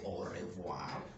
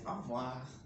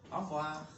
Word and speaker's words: au revoir: It is written as au revoir. We don't say au revoir. We say au revoir.